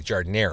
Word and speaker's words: giardiniera: Oh my god, my nose is still running from the giardiniera. Nice. Yeah, you guys all pronounce it in the very distinctly Chicago way, giardiniera. Giardiniera. The A doesn't exist.